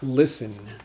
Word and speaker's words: listen: spelled lis te in but the interesting thing about this word is that the T is silent so we don't say listing list and we say listen so it's almost like Li Sen listen an example sentence I